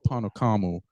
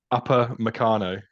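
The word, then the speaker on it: Upamecano: So is it Holgate, Calvin Phillips, or Panocamo, or Pamecano? Oh, I can't say his name for some reason. Meccano. Say what? Upper Meccano. Upper Meccano. Oh, Upper Meccano. Oh, there you go. That's Upper Meccano.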